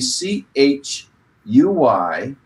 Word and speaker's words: Chuy: to one candidate this week I believe we pronounce his name Chuy Chuy Garcia he's running for Congress we want him